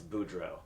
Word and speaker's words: Boudreaux: How do you pronounce it? It's Boudreaux. Mm-hmm. That's how I'd pronounce it. Right. We'll see. Boudreaux.